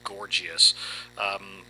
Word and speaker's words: Gorgias: Everybody loves to try to pronounce the name different ways, but as best as I can determine, it's Gorgias.